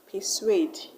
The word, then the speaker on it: persuade: And in persuade, you're going to stress suede.